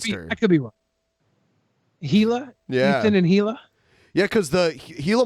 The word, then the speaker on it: Gila: the gilo monster yeah here's the pronunciation key it's gila gila gila gila monster yeah they they're native